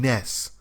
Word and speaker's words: NES: well it appears that the console was supposed to be pronounced Ness I know it's just